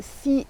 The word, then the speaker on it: Sy: Me voici donc à la gare avec pas vraiment de plan, si ce n'est un nom de village qui m'est venu ce matin. Alors c'est le village de Si. Ça s'écrit S-Y et ne me demandez pas d'où ça vient, je n'en sais rien.